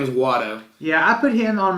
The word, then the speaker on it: Watto: They say it like Watto. At one point, I think Liam Neeson is saying, I don't think anybody gave him the memo, because I'm pretty sure he's saying Walter.